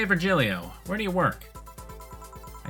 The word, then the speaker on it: Virgilio: It's pronounced Virgilio. What? No, I'm pretty sure it's Virgilio.